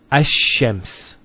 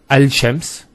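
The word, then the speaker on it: الشمس: And because they're very close, what happens is this lam is not pronounced. And what happens instead is the lam is pronounced as a sheen. So there's actually a shadda here. So it's Ash-Shams, not Al-Shams.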